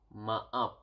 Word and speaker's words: maaf: Sorry is maaf.